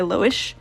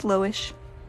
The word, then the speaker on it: Loish: It's very, inspired by Loish. Which, if you're not familiar with her art, it's got some fun, interesting vibes like this. So that's the idea behind this piece. You mispronounced Lois. It's Loish.